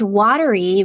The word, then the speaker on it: Wateree: Anywho, it's Watery River Trillium, Watery River, and watery is spelled Wateree, so not how you would think.